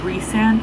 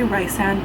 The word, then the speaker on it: Rhysand: Like, he seems normal, and right now Rhysand, I always say Rhysand, but in the Bible it says to pronounce it as Rhysand, is like the one